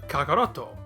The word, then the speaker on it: Kakarotto: Toriyama changed that kya to ka, doubled it, and ended up with Kakarotto.